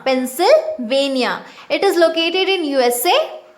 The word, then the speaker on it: Pennsylvania: earth in the place known as pennsylvania okay pronounce it with me pennsylvania pennsylvania it is located in usa and the petroleum